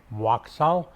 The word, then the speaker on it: Waksal: can you please pronounce and spell your first and last name? My first name is Waksal.